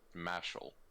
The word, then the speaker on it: Mashle: Oh, right, and you should check out a manga called Mashal. A manga called what now? Mashal. So, to put it in the bluntest terms, Saitama goes to Hogwarts. How do you spell it? Mashle. Mashal.